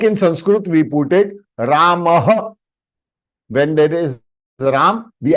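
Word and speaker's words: रामः: So Ramah. Ramah. So this is the way it is spelled in IST.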